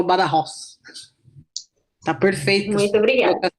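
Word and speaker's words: Badajoz: aqui ch badajos né nós falamos B Joss portugueses brasileiros mas a pronúncia É essa mesmo bem correta bada Ross porque o J deles aqui tem som de R então eles falam bada Ross tá perfeito muito obrigada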